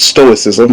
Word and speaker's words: stoicism: First of all, it's stoicism. That C is silent.